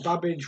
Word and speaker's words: Babbage: 24 what did charles babbage rhymes with cabbage invent in 1835 question